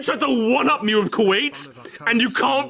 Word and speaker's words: Kuwait: you realize there is a little country called Kaiwat? Kywit. No, we're fine. We're fine. I disappeared. Three times. He does it three times. Pronounce it correctly. Save my life. Kuwait classic.